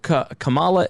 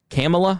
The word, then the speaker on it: Kamala: on this episode but the The Pick of Kamala is it Kamala C camela I've heard camela but I thought it I